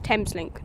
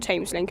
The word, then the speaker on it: Thameslink: link is so confusing apparently it's Tams link not tames link I've been pronouncing it wrong this entire time ladiesent stand the train